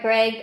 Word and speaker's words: Greig: It's Greig, Greig. So Greg, spelled like that.